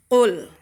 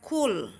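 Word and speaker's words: قل: Qul. Jadi membaca qul itu bukan kul.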